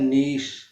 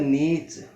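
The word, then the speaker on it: niche: यूके में होता है नीश और यूएसए में होता है नीच, ये जो आप देख पा रहे हैं ये नीच है।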